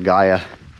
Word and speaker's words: Gaia: I got the Gaia GPS app, that's how you pronounce it.